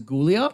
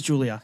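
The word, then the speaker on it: Giulia: Would that be what you would pronounce as Gulia? It was Julia.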